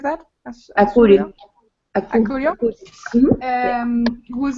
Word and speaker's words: Acurio: And they got a super cool partnership with Gaston Asurio. I don't know, do you say it like that? Akuri. Acurio, Yeah.